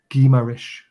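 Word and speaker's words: Guimarães: Speaking to my former father-in-law who lived in Brazil for 15 years, it's pronounced Guimaraes.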